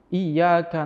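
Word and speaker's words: إِيَّاكَ: Terus tasdid-tasdidnya Fatihah harus diperhatikan. Seperti contoh, iyyaka na'budu wa iyyaka nasta'in. Itu kalau tidak ada tasdidnya, maknanya sudah beda. Karena terlalu cepat mungkin iyyaka na'budu wa iyyaka nasta'in.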